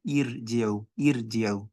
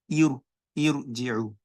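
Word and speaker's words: ارجعوا: Whenever you find this kind of situation, you pronounce what? Irji'u. You do what? You do tafkheem.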